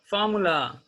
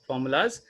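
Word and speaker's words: formulae: फॉर्मूलाज, एस लगा देते हैं, पर वो गलत हो जाता है, फॉर्मूलाज नहीं बोलते, इट्स रॉन्ग, राइट। हम बोलते हैं फॉर्मूले, स्पेलिंग देखिएगा ए ई लग जाता है, राइट।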